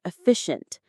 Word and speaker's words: efficient: your study time more efficient. Let's break down that word efficiency. Say it with me. Efficient. The stress is on the second syllable.